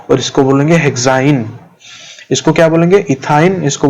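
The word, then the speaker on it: hexyne: तो इसको हम क्या प्रोनाउंस करेंगे? इथाइन, इसको बोलेंगे प्रोपाइन, इसको बोलेंगे ब्यूटाइन, इसको बोलेंगे पेंटाइन और इसको बोलेंगे हेक्साइन।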